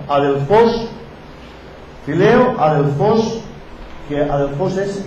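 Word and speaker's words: ἀδελφός: De fileo, amar, y adelfos, o adelfos, porque lleva acento en la última O, adelfos, fileo, adelfos, que adelfos es hermano.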